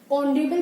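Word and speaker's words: honorable: ऑनरेबल person में भी H silent है और ओ की साउंड हमें सुनाई दे रही है, तो वाउल साउंड होने की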